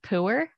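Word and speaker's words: Pu'er: Puer? I have no idea. So technically it's pronounced puer, which is somehow better. Puer. Like when you go to pour some syrup on your some people pancakes?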